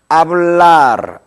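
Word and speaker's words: hablar: 이 아체는 어떤 경우나 묵음입니다. 즉 다시 말해서 발음하지 않는다, 무성음이다 이런 얘기죠. 그래서 이제 예를 들어보자면 다 같이 큰 소리로 한번 해볼까요? 아블라르 이렇게 하세요.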